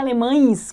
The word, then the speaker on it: alemães: Observe que esse E, ele tá tão fraco que ele tem até um sonzinho de I, né? A gente pronuncia alemães como se fosse um I.